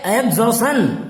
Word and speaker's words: exhaustion: Next word देखिए EXHAUSTION, उच्चारण है एग्जॉशन।